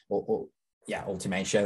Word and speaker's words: ultimatio: These are called pre-transcensia, elevatio, transcensia, and ultimatio, ultimatio, that's how you pronounce that.